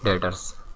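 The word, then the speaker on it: debtors: डेटर्स भी कहते हैं, डेटर्स बी साइलेंट है इसमें।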